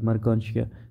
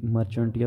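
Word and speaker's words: Marchantia: जैसे एग्जांपल में उसने मर्कांशिया का एग्जांपल दिया है, ठीक है, ये प्रोनाउंसिएशन है कि मर्कांशिया, वैसे जो है ना ये मर्चेंटिया भी पढ़ते हैं लेकिन ये मर्कांशिया है इसलिए जहाँ पे प्रोनाउंसिएशन दी है।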